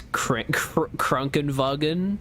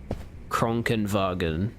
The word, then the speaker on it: Krankenwagen: One of my favorite German words is Krankenwagen. The word for ambulance literally means sick wagon in direct translation. It's very satisfying to say, especially if you don't get the German style R roll down. Krankenwagen.